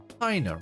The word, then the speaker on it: Hina: Hina rhymes with vagina.